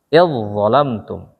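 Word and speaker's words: إذ ظلمتم: Langsung ke sini, hilang ininya. Idzalamtum. Begitu cara bacanya.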